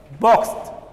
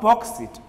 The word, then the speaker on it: boxed: As I mentioned earlier, the letter X sounds as S, and the ED is pronounced as T when you have a voiceless letter like X. Pronounce it like bogus, boxed, boxed, not boxed it. It should be pronounced as boxed, boxed. We add T sound at the end, not it.